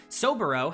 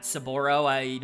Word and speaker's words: Soboro: Kind of a long time coming in that one, and Soboro has been promoted up to the main roster. I believe that's how you pronounce it, Soboro, not Saboro.